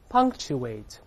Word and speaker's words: punctuate: 注意这个 k 失去爆破了，本来 k 是个爆破音，爆破音后面出现其他辅音，前面爆破音只做动作 pung，舌根拱